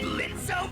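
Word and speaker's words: Blitzø: Oh, is that Blitzo, my sensor spot up there? I guess the kitties are still running away from you, huh? The O is silent now.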